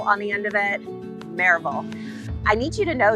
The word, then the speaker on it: Maryville: add a vole on the end of it marable i need you to know this this is